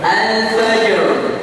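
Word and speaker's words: الفجر: hus hus alqad alqadr alfajr alfajr syahr syahr Fajr Fajr Nah itu pengucapannya rnya tebal ya ketika rnya wakaf sebelumnya sukun sebelumnya lagi fathah Dam kemudian kaidah yang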